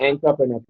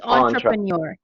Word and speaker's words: entrepreneur: entrepreneur, but it's not entrepreneur. It's French. It's entrepreneur.